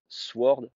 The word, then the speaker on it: sword: dans les jeux vidéos ça se disait Sword avec un W je disais Sword un anglais il comprend pas du tout le W ne se prononce pas on dit a sword par exemple donc quand